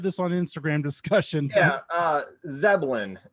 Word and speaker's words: Zebelian: Yeah, Zebelian.